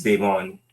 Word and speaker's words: De'Von: Am I putting the accent in the right spot? Okay, Devon. So it's Devon. So the emphasis is on the second syllable, but gotcha.